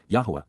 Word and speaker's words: Yahowah: to be acceptable to promote recovery, Qowl imperative, Yahowah, Yahowah, the proper pronunciation of the name of Eloah, God as